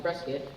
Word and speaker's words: Prescott: Well, there are several possible reasons why it could be pronounced Prescott. One reason is it comes from the old miners who shortened the pronunciation. Another reason is it was the way that William Hickling Prescott pronounced his name.